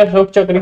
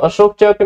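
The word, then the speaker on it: Ashok Chakra: ठीक है, when I am saying अशोक चक्र means I am pronouncing this is Hindi. ठीक है, बट जब अशोका चक्र बोलते हैं दैट इज इन इंग्लिश।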